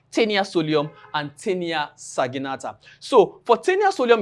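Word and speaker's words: Taenia solium: understand I call it tenia soulium. So you remember the proper pronunciation is tenasolium and tenia sagenata.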